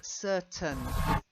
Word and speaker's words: certain: Now, the first one, I know it's got this AIN ending, but it's more of an un. Yeah, certain, not certain. Okay, we do say ascertain. Certain. Yeah, we say to ascertain something, but when we're doing certain, it just gets swallowed. Certain. The same with curtain. Okay. So certain, it gets swallowed.